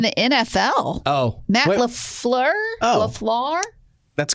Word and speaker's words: Matt LaFleur: LaFleur? That's correct. Gavin's like, I concur. Which part is correct? I pronounced his name right?